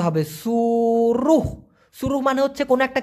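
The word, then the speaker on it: suruh: দিতে পারেন হ্যাঁ এস ইউ আর you Hayes উচ্চারণটা হবে সুরুহ সুরুহ মানে হচ্ছে কোন একটা কিছু করতে বলা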